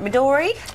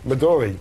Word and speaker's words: Midori: Let me get this pronunciation right. Midori. Midori.